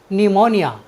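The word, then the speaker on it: pneumonia: ओ एन आई ए न्यूमोनिया न्यूमोनिया means होता है न्यूमोनिया साथियों यहां पर पी के तुरंत बाद एन या टी आया है इसलिए हमने पी का उच्चारण नहीं किया है चलते हैं अपनी नेक्स्ट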